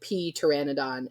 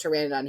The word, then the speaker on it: Pteranodon: was like calling it P Pteranodon and I was like it's just Pteranodon he's like but there's a p and I was like the p is silent he's like pe's are